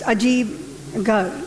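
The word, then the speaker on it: Ajaib-Gher: Well, it's spelled Ajib Ger, but it's Ajib Gar, the Wonder House, the museum.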